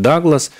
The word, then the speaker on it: Дуглас: Потому что, например, меняются действительно вот транскрипции, потому что раньше фамилия, ну вот Дуглас, она произносилась как Дуглас, сейчас на английский манер многие говорят Даглас.